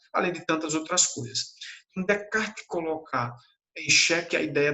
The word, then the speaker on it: Descartes: Está escrito ali Descartes, né? Mas é Descartes. É a pronúncia francesa, como ele era francês também, nasceu em 1596, viveu até 1650, não muito tempo ali, né?